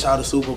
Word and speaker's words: Shotta Suppa: You know, but it's So I said the name wrong. Yeah, it's Shotta Suppa, but you know.